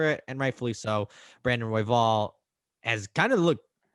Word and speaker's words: Royval: Royval, is that how you pronounce it?